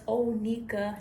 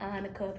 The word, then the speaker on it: Onika: That's Onika, not Onika. People always pronounce Onika.